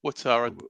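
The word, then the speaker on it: Ouattara: Atara or Watara. Okay. Watara.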